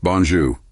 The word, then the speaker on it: bonjour: Pro tip, make sure you pronounce there softly, like a gentle R. Repeat after me, bonjour.